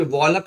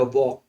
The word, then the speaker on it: walk: Okay, L silent, WALK वॉक, वॉक मैंने टहलना, CALM काम, एल नहीं पढ़ेंगे, काम पढ़ेंगे, काम माने शांत, इसको भी वॉलक नहीं पढ़ेंगे, वॉल्क नहीं पढ़ेंगे, पढ़ेंगे वॉक।